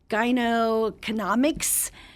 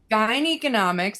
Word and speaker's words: gyneconomics: Gyne economics. It's like gynecology mixed with the word economics.